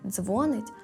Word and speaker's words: дзвонить: А якщо ж ви сказали дзвонить, то зараз розберемо правила. Увага, правильно казати дзвонить, а ще молиться та говорить. Наголос завжди в кінці.